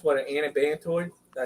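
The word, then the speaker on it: anabantoid: Come to find out, it's what, an antibantoid.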